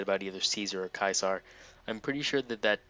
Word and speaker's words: Caesar: I think that um in the days of Roman Empire they probably would have said kaisar because uh in Latin C's are pronounced as K's kind of like how